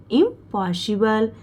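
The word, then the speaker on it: impossible: और बी एल को बल, ई जो लास्ट में रहता है इसका उच्चारण नहीं होता, ये साइलेंट रहेगा, तो बी एल को हम बल पढ़ेंगे। तो क्या होगा? इम्पॉसिबल।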